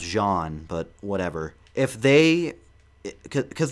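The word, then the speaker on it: Jaune: someone and they said John Arc or something like that, and I was like, actually it's supposed to be pronounced Jean, but whatever.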